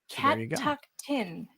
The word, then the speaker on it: Catoctin: Roxas in the chat says, Nick, it's pronounced Catoctin. It's a Western Maryland lake. Catoctin.